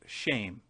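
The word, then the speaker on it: שם: name ideas which is the very Hebrew word for name which is Shem pronounced shame we might as well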